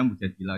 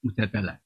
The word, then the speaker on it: Mujadilah: Makanya di Quran ada surat mujadilah yang benar itu bacanya mujadilah yang level A. Tapi umumnya orang baca apa? Mujadalah. Itu karena ceritanya itu perempuan penggugat.